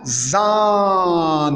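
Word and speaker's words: Sahne: dans un mot, comme zan, la crème pâtissière, zan. Et le ha muet, sa fonction dans un mot, il allonge la voyelle qui le précède.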